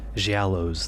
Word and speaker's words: Giallows: just more people involved she aloes the correct Italian pronunciation yeah low GI lows soft G and got to use